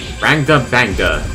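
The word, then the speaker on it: Rangda Bangda: And this is the how do you pronounce his name again? Rangda Banga.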